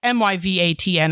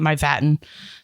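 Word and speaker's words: Mývatn: pronounce it, but it's Myvatn. I kept calling it Myvatten. That's not correct.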